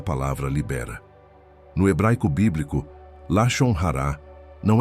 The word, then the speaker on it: Lashon Hara: Escute a pronúncia. Lashon Hara.